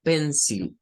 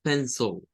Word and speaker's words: pencil: una i o sea eso no es pencil O sea no es así es pensó es un es ahí se convierte en un shua y es el si